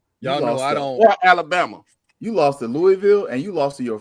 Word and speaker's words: Louisville: You lost at home to Louis to Lewisville. I'mma say it wrong on purpose. It's Louisville.